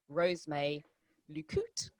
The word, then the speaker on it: Rose May Lucotte: me to do this show and not invite Rosemay Lucotte to the show.